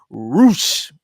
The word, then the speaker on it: Rush: championship uh match between roosh even though it's spelled rush versus john moxley what